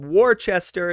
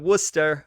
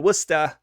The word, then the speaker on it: Worcester: you to those new englanders who corrected my pronunciation as i said it incorrectly uh i said warchester instead of worcester or worcester i don't take offense and i'm trying at